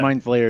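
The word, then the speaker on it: mind flayer: what I'm looking for it's mine flares that's how it's pronounced but I know that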